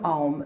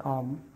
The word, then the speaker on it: Om: psychic and purely spiritual the sound of om is composed of three syllables in sanskrit o is a diphthong sound it means that it is formed by combining the two sounds a and u the difference between the